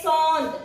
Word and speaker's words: sont: Ce sont des pommes. Ce sont des pommes. You will put S here, but you will not pronounce the S. Ce sont.